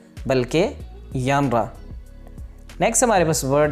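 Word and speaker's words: genre: ये जेनर लफ्ज़ नहीं है, ये जेनर नहीं है, बल्कि यानरा।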